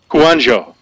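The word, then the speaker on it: Kouandjio: name right or how did how do you pronounce that great job man I just want to hear you say it again kanano he's 6'6 322 pounds played left tackle but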